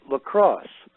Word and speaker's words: LCROSS: out of NASA Ames called LaCrosse. And that was an acronym which stands for something, and I don't remember what it stands for at the moment, but it's spelled LCROSS.